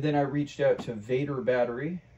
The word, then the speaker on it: Vatrer: I reached out to Vader battery I think that's how you pronounce it VA a t r and they provided two